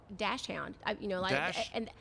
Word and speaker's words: Dachshund: A lot of people will pronounce it Dachshund. Is that the German derivation? Yes, but we always call it. Dachshund. I've had Dachshund since I was born.